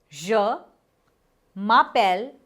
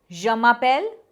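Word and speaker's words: je m'appelle: Ja Mapel Japel. The pronunciation is ja mel japel riddi.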